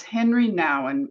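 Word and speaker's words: Henri Nouwen: It's it's Henry Nan, but it's spelled hen r i and then nan is n o u wen.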